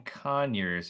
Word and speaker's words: Conyers: Rosie, East in Conyers, if East I of pronounced Conyers.